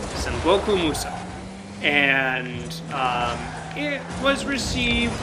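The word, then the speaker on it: Sangoku Musou: In Japan, it was called, and pardon me, I am very sorry for these pronunciations, San Musu. Sangoku Muso. Okay. Sangoku Muso.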